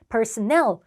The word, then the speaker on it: personnel: personnel, 그 personal, 개인적인 말고요. personnel이라고 읽으면 직원들이란 뜻도 있고요.